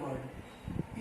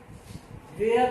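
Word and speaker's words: were: इसका स्ट्रक्चर हो जाएगा सब्जेक्ट प्लस वाज या वेयर plus V4 plus other word. इसका उच्चारण वर पढ़ते हैं, वेयर नहीं, वर।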